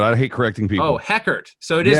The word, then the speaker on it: Heckert: uh what's the deal with mormons with eckert there's an h there but i hate correcting people oh heckert so it is pronounced it's an aspirated age got it yeah